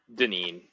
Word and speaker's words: Deneen: And I think it's Patrick, is it Deenan, or how do you say his name, Ben? Deneen.